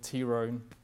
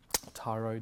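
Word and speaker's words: Tiro: had a Freeman called Tea Room tyro depending on how you pronounce it who worked very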